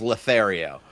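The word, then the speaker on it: L40TH41R10: I chose that to pronounce as Lothario. And that's simply because they were spelled out as letters.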